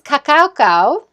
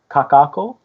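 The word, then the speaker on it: Kakaʻako: photos from Hawaii to start out this is Kakaako have I said it right I always say that wrong it's really hard to say Kakaako Kakaako thank you there was a farmers market in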